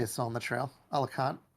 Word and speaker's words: Alicante: Alicante. How do you pronounce it? Alicante.